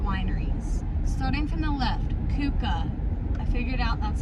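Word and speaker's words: Keuka: Starting from the left, Kuka.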